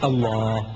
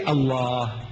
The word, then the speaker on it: Allah: right if it's a l a h is Allah you say look say Allah my language my language I want you to pronounce as I want you to pronounce you